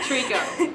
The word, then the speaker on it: Treco: Treco. Treco. Like tree company. It's like a tree frog.